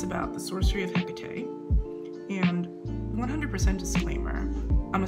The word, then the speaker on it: Hekate: I would imagine that it's pronounced different ways at different times. I was always told Hekate. Sometimes I will slip into Hekate. However, I'm not a Greek scholar or a Latin scholar, and we're talking about a goddess that had been worshipped for hundreds of years in different regions where pronunciations differ.